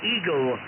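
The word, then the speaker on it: Egil: Okay, I guess as you spell it, Echo, Golf, India, Lima, but pronounce it Eagle.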